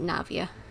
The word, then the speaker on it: Navia: Navia is fine now I know how to pronounce it Navia so you rasula anyway all merely trifling details